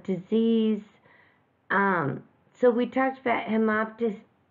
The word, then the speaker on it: hemoptysis: So we talked about hemoptysis. I'm going to spell it H-E-M-O-P-T-Y-S-I-S, hemoptysis.